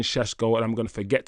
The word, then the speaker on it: Sesko: I'm not going to keep saying Sesko, and I'm going to forget to say it, but apparently that's how you pronounce his name, is Sesko.